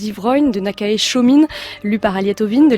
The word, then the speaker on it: Chōmin: Shomin a été l'un des chroniqueurs de cette période de formidables bouleversements pour le Japon. Christine Lévy. Oui, tout à fait, oui. Donc on prononce Chōming en japonais.